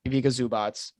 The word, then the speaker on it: Ivica Zubac: Ivica Zubac.